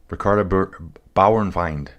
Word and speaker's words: Ricarda Bauernfeind: This is the one that Dream was just talking about, who I butchered her name. It is Ricarda. Ricarda Bauernfeind.